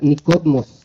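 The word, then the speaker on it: Νικόδημος: El nombre Nicodemo es un nombre griego que se pronuncia Nicodmos, que significa victorioso o conquistador.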